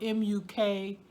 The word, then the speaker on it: mukbang: It's spelled M-U-K-B-A-N-G, and in America we pronounce M-U-K, muck, and B-A-N-G is like bang, you know, like a big sound. But I looked it up, I Googled it, and it says to pronounce the B-A-N-G bong, bong.